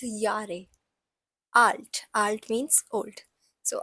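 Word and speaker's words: Jahr: means years old now this j a h r no one is going to pronounce it as jar it's j has a y sound in it so it's Yar alt alt means old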